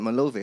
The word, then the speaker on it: Malove: How you pronounce it? Malove. I've been saying me love for so long.